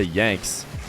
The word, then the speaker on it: yanxnz: i copied the commentators i heard and said yanks comments the comments said you're saying it wrong so let's try yan and we'll find out